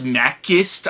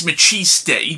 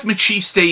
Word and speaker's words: Maciste: Although, at the time, I kept pronouncing the character's name as Mackist. I kept pronouncing it as Mackist in hell because I didn't know how to properly say the character's name. But I'm pretty sure it's Machis Day, but I could be wrong on that.